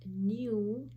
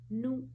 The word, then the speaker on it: new: This is new in British pronunciation. So this comes under long vowel U words, but it is pronounced as nu, nu in American pronunciation.